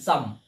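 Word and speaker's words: psalm: Last one পিএস একসাথে পি উচ্চারিত হবে না। এস এ এল এম সাম। এই শব্দ সাম।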